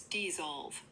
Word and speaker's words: dissolve: So it's dissolve with a clear Z sound in the middle, not a B.